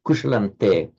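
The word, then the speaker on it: कुशलं ते: This is the same, kushalante, te meaning to thee, in the singular form, kushalante. So written with the anuswaras, the subdotted m, but pronounced as a n because of the following te.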